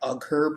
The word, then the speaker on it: Uyghur: and Uyghurs, yeah, I know it looks like Uyghur, but it's pronounced Uyghur.